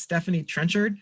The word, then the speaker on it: Stephanie Trenchard: I think it's pronounced Stephanie Trenchard.